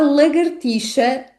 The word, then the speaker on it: lagartixa: Mas aqui o grande desafio é mesmo a pronúncia da letra X, que neste caso é pronunciada como ch.